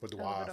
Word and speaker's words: boudoir: They did a fantastic boudoir photo.